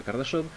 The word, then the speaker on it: Kardashev: Porque en sí se basa en el concepto de un físico de origen ruso llamado Kardashev, se escribe Kardashev, pero se pronuncia Kardashev, que hablaba de los tres tipos de civilización que podían existir en base a el consumo y producción energética de cada uno.